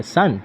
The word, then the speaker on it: son: pronounce करते हैं और एस ओ एन सन यानी की बेटा इसको भी हम लोग लेकिन सन ही प्राणों करते हैं तो फोनेटिक के लिए